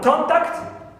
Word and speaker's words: contact: Contact. Alright. If we stress the first syllable, contact, it's a noun.